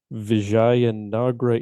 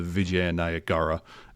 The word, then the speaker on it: Vijayanagara: the, and I'm going to butcher this word, Vijayanagra Empire. Vijayanagra. What is now the state of Kerala in India, the Vijayanagara Empire in about 1443.